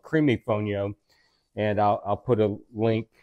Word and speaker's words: fonio: And today we are going to cook basic Fonio. I know I pronounced it Fonio before, but I believe I've been corrected.